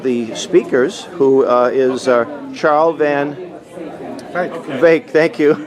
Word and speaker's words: Van Wyk: And I'm speaking to one of the speakers who is Charl Van Wyk, thank you, rhymes with lake.